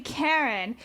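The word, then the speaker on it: Caryn: Her real name is actually Karen and it's spelled C A R Y N.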